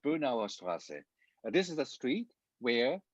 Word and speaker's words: Straße: So if you look at, for example, the street name in Germany, you see Straße. This is this SZ, which is pronounced like a hard S in English language.